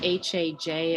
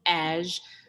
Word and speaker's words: Haj: It looks like Haj, but it's actually Aj. If you ever call my voicemail, there's a little rap that goes with it. You have reached Aj, not Haj, not. It kind of rhymes with cash.